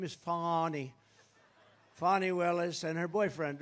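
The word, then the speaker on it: Fani: right has anybody fonnie it's pronounced fonnie F A ni I that's Fanny but she likes it Fon when she became the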